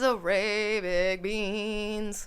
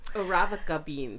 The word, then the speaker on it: Arabica: even though Brazilian coffee uses Arabic beans. Arabica beans. Arabica beans. That's yeah, how you say it. That's how you say it. I'm like, this sounds like... It's Arabica, but it's from Arabian. Oh, okay. From what they get, from what I know, is Arabica.